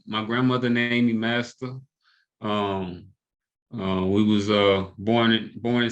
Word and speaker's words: Masta: Yeah, I be master. thinking there's Like an Matt, accent on there, and that's the problem. you gotta say it like Master P. That's why I say like master.